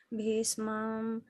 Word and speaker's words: bhīṣmam: Ayaneṣu cha sarveṣu yathā-bhāgam avasthitāḥ bhīṣmam bhīṣmam. bhīṣmam evābhirakṣantu Bhīṣmam. There's a sha.